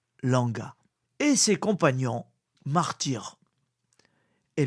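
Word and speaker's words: Lwanga: l'église faite Saint-Charles Langa Langa s'écrit l W A n g Langa et ses compagnons martyr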